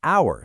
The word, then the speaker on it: hour: On the flip side, an hour starts with a consonant, but the H is silent, giving it a vowel sound, so it gets an.